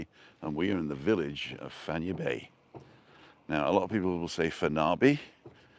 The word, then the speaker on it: Fañabé: And Charlie's saying Fanya Bay is like Aranya. Both are pronounced the same.